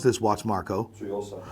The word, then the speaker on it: Tsuyosa: The Citizen, and I never speak about Citizen, but the Citizen, how the f do I pronounce this watch, Marco? Tsuyosa. Tsuyosa, because I'm not Japanese, and he, for some reason, is.